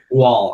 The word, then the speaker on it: Gual: a special guest Gaul how's it going I'm doing great brother did I say your last name right wall it's like wall what did she well with a G it's a new pronunciation